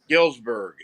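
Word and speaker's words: Galesburg: Help me out with the pronunciation of the town you grew up there in Illinois. Gillsburg. Is it that simple?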